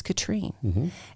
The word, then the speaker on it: Catherine: what that is is it is american spelled and french pronounced see i was named